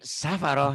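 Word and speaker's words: سَفَرَةٍ: Bi'aidi safaroh. Jangan ragu-ragu ya. Safaroh. Nggak ada tasdid.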